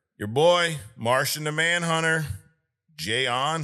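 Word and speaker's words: J'onn: All right, third, your boy, Martian the Manhunter, Jayon. How do you say his name? John.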